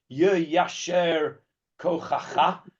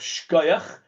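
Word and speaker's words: יישר כוחך: Yasher Kochacha is the correct pronunciation of Shkoyach. Right, Shkoyach is a bastardization of Yasher Kochacha.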